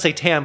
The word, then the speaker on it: Saitan: little devil and then saitan is pronounced say tan but satan of course